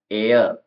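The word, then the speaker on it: heir: हो जाए ऑनेस्ट ईमानदार आवर घंटा ऑनर सम्मान एयर हेयर नहीं बोलेंगे एयर का मतलब होता है वारिस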